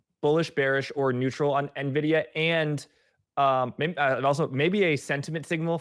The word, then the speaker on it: Nvidia: So would you say you're bullish, bearish, or neutral on Nvidia? And maybe a sentiment signal for our audience is that I've actually started to pronounce Nvidia correctly.